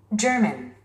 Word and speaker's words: German: German. German. German. 스트레스가 맨 앞에 있습니다. German. German. 우리 한국인들은 게르만이라고도 하기도 하고요. German이라고도 합니다. 뭐 저먼도 그렇고 젊은도 그렇고. 근데 원어민들은 지금 German, 맨으로 발음하고 있습니다.